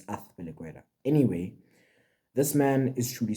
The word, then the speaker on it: Azpilicueta: Now people say it's Azpilicueta. No, it's not, fam. Z in Spanish is pronounced TH, so it's Azpilicueta.